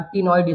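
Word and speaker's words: ctenoid: देखो cycloid scale है और टिनॉइड स्केल है। सी साइलेंट है ना यहां पर टिनॉइड और साइक्लॉइड स्केल्स होती है।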